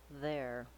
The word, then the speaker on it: there: vowel A to vowel Try building this word from the back. Start with your tight American R, then add the A vowel, air, then add the voice TH sound, there.